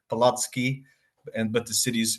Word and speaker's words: Palacký: Just to correct the pronunciation, your pronunciation of the university was perfect, Palacký, but the city's pronounced Olomouc.